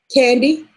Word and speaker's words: Candy: candy or just candy candy candy candy yeah like like the food candy yeah it's it's pronounced the same way candy well call it candy